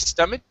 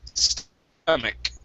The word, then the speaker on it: stomach: let's go respect now remember the ch this word is actually like a k so instead of stomach it's stomach there you go good so